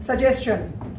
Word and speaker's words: suggestion: होता है, तो उसको हम शन ना पढ़ के चन पढ़ते हैं। ये लिख रहा है SUGGESTION, ये लिख रहा है सजेशन, ना कि ये सजेशन है।